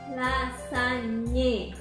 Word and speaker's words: lasagne: Next one is this one This one is Lasagne If you ever heard the word of Lasagna,